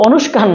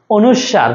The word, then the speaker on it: অনুস্বার: আছে পরাশ্রয়ী বর্ণ কোনগুলো অনুস্বার বিসর্গ চন্দ্রের মধ্যে অনুষ্কার না অনুস্বার ঠিক আছে বাংলা ব্যাকরণে পরাশ্রয়ী বর্ণযুক্ত শব্দ কোনগুলো